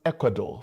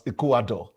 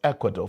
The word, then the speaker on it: Ecuador: I learned Ecuador from that woman. I used to pronounce it as Ekuador. I learned Ecuador from from her.